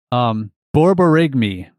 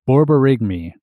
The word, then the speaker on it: borborygmi: Borborygmi. Nailed it. Or Borborygmi. Maybe. We'll see. Borborygmi. The phonetic spelling had the first initial as BAWR, like bar, Borygmi, and then the end was MAYH or something weird.